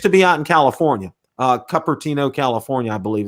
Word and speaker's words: Cupertino: it only used to be out in California, Cupertino, California, I believe it's how it's pronounced. But now they have them across the country. Cupertino.